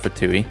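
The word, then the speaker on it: FTUE: in the dev lingo meaning first-time user experience pronounced fatui yes uh took longer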